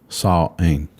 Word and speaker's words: Samhain: Like Samhain, but it's pronounced Samhain.